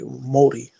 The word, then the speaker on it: Māori: Hey, I learned something today watching a ancient Maori documentary, Māori. They'll get angry at my pronunciation.